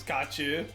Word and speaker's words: Xiu: After all, Xiu is pronounced as Kachu.